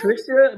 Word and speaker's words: Patricia: Patricia, but it's Polish.